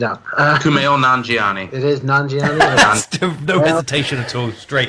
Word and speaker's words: Nanjiani: It is Nanjiani.